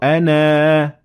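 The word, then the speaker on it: أنا: And this is an interesting sign because when you see it above the alif, it means that you pronounce it. You pronounce the alif if you stop at this word. But if you continue, you will not pronounce it.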